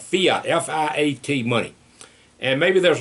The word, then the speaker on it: fiat: Unfortunately, many, many years ago, our government got away from that, and then they're doing something called F-I-A-T. I'll pronounce it Fiat money, which they're printing money out of thin air, and there's nothing to back it up.